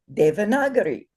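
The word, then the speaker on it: Devanagari: you say it properly because the a as we know the day that that a is long two beats. The second vowel is uh short no markers.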